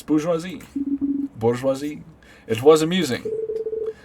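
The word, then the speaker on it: bourgeoisie: the idea slate bouris so that's how it's pronounced uh bisi I always I always said borzy boresi how come no one ever correct me it's bisi bourjois it was amusing sounds like a pasta boresi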